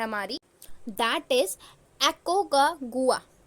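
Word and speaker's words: Aconcagua: है हमारी that is एकको का गुआ इसको एक्चुअली ऐसे ही प्रोनाउंस करेंगे एकको का गुआ और यह हमारा अर्जेंटीना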